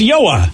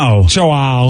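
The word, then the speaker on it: João: you can't do it it's yoah that's so yeah yeah i found it on uh on youtube so this is the pronunciation via the internet okay joel joel joao so so they say hard jays and in portuguese i guess wow oh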